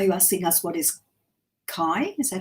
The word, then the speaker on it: kai: Pronounced Kai. K-I. Kai.